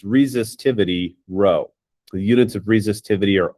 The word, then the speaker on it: rho: greek letter for r it's phonetically it would be rho rho this is a property